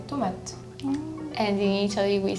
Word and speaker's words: tomate: It's just a very light ending. Yeah. There is an E, but like there is no accent and everything, so you just kind of not pronounce it. Yeah, the So E it's at just the end, tomate. right? Yeah. All the E's at the end of the word. You still have to say the T, but it's just tomate.